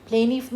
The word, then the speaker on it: plaintive: Plaintive means it t sound is silent here. No need to pronounce it.